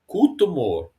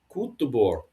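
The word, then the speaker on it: cóta mór: So I looked up Cotamore, and there's three pronunciations, which is the Munster pronunciation, Cotamore, Cotamore. Connacht is so like Cotamore, and then Catamore is the Ulster pronunciation.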